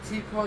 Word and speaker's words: TPAW: You're like, I don't know if they're saying T-Paw just because, Paul, P-A, or because they know it's T-P-A.